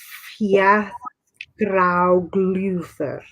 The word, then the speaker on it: Fjaðrárgljúfur: I posted a picture of Fjaðrárgljúfur I made last year in the discussion earlier, but how do you pronounce it? Fjaðrárgljúfur.